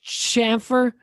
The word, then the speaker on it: chamfer: But it's just popped with Chamfers? oil. Chamfer? Am I saying it right? Chamfer?